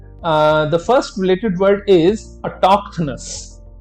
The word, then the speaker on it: autochthonous: The first related word is autochthonous. Autochthonous. Now see, again pronunciation अगर आप ध्यान से देखें तो हम TOK पे हम जो है थोड़ा सा emphasize कर रहे हैं।